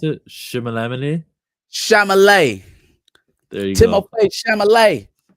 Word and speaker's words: Chalamet: How you mispronounce it? Chalamet.